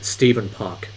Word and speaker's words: Stephen: known for is uh Stephen Park and Steven is actually spelled with ph it's not V it's actually Stephen Park uh that's his real name a lot of people confuse Steven with Stefan so I don't want